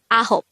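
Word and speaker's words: 아홉: translation of nine is ahop this is pronounced as a two-syllable word the first syllable is a second syllable is hope pronounce it with me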